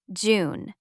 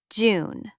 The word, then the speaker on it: June: June. The last letter E is silent. We don't say it. June.